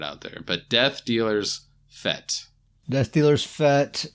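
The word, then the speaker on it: fête: and apparently this word Fe te it's a French word according to Grizzly and it's pronounced fet right didn't isn't that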